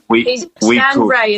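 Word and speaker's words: Stan Rey: Stan Ray is spelled R-E-Y.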